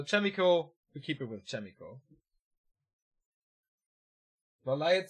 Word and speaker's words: Chaemiko: You were pronouncing it right, said Stoker. Thanks, man. So Chaemiko, we keep it with Chaemiko. Valiant says Chaemiko.